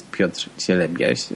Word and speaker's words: Piotr Cielebias: My name is Piotr Cielebias, and I'm aware that it may be hard to pronounce by people speaking in English, but also